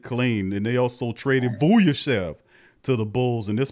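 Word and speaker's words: Vučević: Vujicic.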